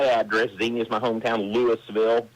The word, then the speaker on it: Louisville: Lewisville, like Louisville, Kentucky, that's my hometown, but but Yep.